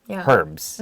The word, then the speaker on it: herbs: starts with an h usually people read it without the h but i also have heard people say herbs before some people read it with the h some people don't i think it really depends on where you grew up but i personally read it without the h sound cannot and also create